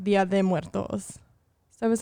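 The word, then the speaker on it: Día de Muertos: so so this whole time i've been saying dia de los muertos i thought it was los muertos yes but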